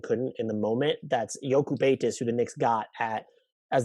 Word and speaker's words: Jokubaitis: That's Jokubaitis, who the Knicks got as the number 36